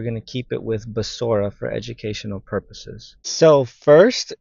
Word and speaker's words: Besorah: going to go back to this word so basora it's bet shein R he so technically the old way of pronouncing it could have been bashara or bashra right um You don't have to have vowels